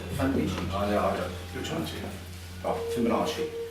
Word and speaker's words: Fibonacci: It's related to the Fibonacci sequence, which I probably just mispronounced, because I'm not very good at pronouncing things. Fibonacci? Fibonacci? I don't. Which one? Oh, Fibonacci.